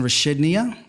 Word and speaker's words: Rashidnia: This is Rashidnia. Oh, you said it perfectly.